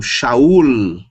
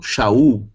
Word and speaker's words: Saul: Uno lugar né mas em hebraico não a pronúncia estaria errada então eu tenho Saul chaurlo é uma palavra terminada com Lambert ok não Israel e não chau valor transiteração M fonético M valor numérico 40